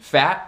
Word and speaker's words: fat: Fat e cat como adjetivo e substantivo nunca podem se reduzir esse som do A, você tem que pronunciar